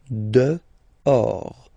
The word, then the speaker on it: dehors: Okay, so remember, final S not pronounced, and then this H in French doesn't exist phonetically, so you don't pronounce it. Dehors.